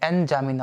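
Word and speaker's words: N'Djamena: जामिना नाम से है, एन जामिना, उसमें डी साइलेंट है, जामिना, ठीक है।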